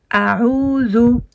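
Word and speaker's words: أعوذ: Donc là, on a un alif avec une fatha qui donne le son A. Pas A comme en alphabet française. A, a'udhu. Et le A, le Ain, pardon. Et le Ain qu'on a ici avec une damma qui va donner le son OU.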